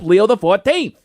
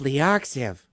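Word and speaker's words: Leo XIV: Pope Leo uses the X, the I, and the V as Roman numerals. So, he's Pope Leo the 14th. I always thought he was Pope Leoxiv.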